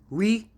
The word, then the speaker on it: Ouija: Wea, not Ouija. It's not pronounced Ouija. You can see from what it says, it's we French for yes. J, German for yes.